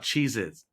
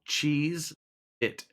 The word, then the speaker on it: Cheez-It: What about Cheez Its? How do you spell it? Cheezit. No, it's just called Cheese It. They're It's not not plural.